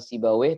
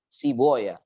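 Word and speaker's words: Sibawayh: silat yang berbeda misalnya ulama nahwu bernama sibaweh bacanya para ulama muhadditsin membacanya Bukan sibaweh tapi siboya jadi imam sibaweh imam siboya nah Adapun tulisannya Woi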